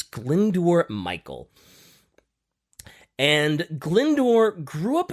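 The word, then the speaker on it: Glyndwr: Chumley and Montague uh the person's name was glendor God I hope I'm saying that right because it's spelled g-l-y-n-d-w-r I'm pretty sure it's glindor Michael and glindor grew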